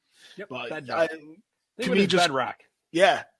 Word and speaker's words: Bednar: I couldn't pronounce his last name. Yep, but Bednar.